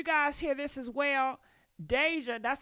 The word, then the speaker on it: Deyjah: guys did you guys hear this as well Deja that's how you say her name Deja Deja